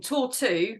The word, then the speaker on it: Tortue: and say something yeah I just wanted to explain tour two which is spelled t-o-r-t-u-e is actually the French word for turtle and all of our